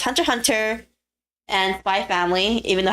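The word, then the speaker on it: Hunter × Hunter: not but um um when japan wants to put x in their titles like that it's usually silence actually unless they unless they did otherwise so it's hunter hunter and by family even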